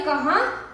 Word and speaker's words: कहां: गए तो देखिए दोस्तों यहां पर कहां था इसलिए हमने इसका उच्चारण नाक से किया जैसे कि आप एक